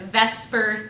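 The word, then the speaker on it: VSEPR: say this pepper but we pronounce that Vesper theory so you need to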